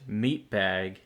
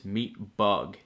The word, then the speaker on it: Meatbug: I kept referring to them as Meatbag, but in actuality their name is Meatbug.